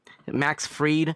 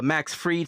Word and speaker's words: Fried: Max Freed spelled like fried. I don't know. Uh Max Freed.